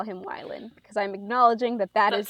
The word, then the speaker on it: Wylan: Okay, and then this last guy is Waylon Van Eck?